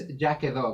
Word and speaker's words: Quedó: Did I pronounce it right? That's It's the name of your actually it's Quedó, but yeah, that's Jackado?